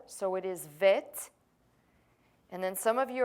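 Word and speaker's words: ב: the form of this letter so it is vit and then some of you are gonna go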